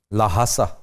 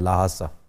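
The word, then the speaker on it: ल्हासा: उसका कैपिटल क्या है लहासा जवाब बिल्कुल दुरुस्त हुआ एच प्रोनाउंस नहीं भी करते लेकिन ज्यादा किया जाता है लहासा लाहा सा ये बड़ी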